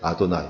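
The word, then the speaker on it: אדני: 그만큼 이들이 철저하게 하나님의 이름을 거룩하게 여기고 경외하려고 했던 노력했던 것들은 흔적이 여기에 나와 있고, 그냥 우리가 읽을 때는 주님이라고 읽기 때문에 아도나이, 영어에서도 그래서 더 로드라고 표현을 하고 있는 것을 보게 됩니다.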